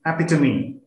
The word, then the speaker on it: epitome: it's a disqualification that the correct pronunciation is epitome thank you now let's